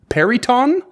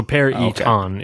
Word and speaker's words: Peryton: Well, maybe not emphasis, but like it's a hard E.